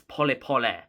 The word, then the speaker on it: pole: uh tan Tanzania um it's pool so it's spelled like the word pole in the English language so if somebody was